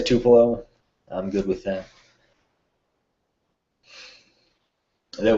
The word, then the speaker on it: Tupelo: to pillow i guess there's like eight different pronunciations but the locals say tupelo i'm good with that